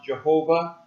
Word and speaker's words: Jehovah: Sometimes it's pronounced Jehovah.